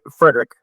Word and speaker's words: Friedrich: Is it Friedrich? It's Frederick. Friedrich.